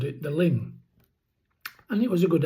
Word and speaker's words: Luing: So, I'd like to move on to ling cattle. And ling are spelled l u i n g pronounced l i n g.